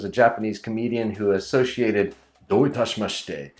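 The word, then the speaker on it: どういたしまして: For example, in the 1980s or 90s, there was a Japanese comedian who associated "doitashimashite" with Don't touch my mustache.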